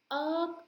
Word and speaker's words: irk: अर्क का मतलब होता है इरिटेट करना। इस ये वर्ड आई आर के इर्क नहीं होता, इट इज कॉल्ड एज अर्क। द करेक्ट प्रोनाउंसिएशन इज अर्क।